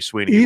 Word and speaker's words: Sweeney: And what if Tommy Sweeney catches a winning touchdown pass to beat Dabo Sweeney? It'll be it's different spelling. But it's pronounced the same.